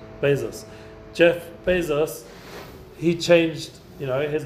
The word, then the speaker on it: Bezos: Bezos.